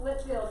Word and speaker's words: Whitefield: to double check and it is pronounced whitfield so i guess american pronunciation we just got lazy and so we said whitfield and not white film